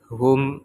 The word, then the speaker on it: whom: wrer Ris or wrong It also didn't pronounce it in Words such as Who whoever WH whom and to Oke so the